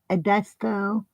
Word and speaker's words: Edisto: You mean where she corrected how you pronounce it? Edisto.